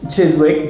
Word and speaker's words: Chiswick: This would be Chiswick, but I'm gonna guess. Yeah, There's guess. no W, so it's gonna be called How would Chiswick. you say? Chiswick. Perfect. Well done.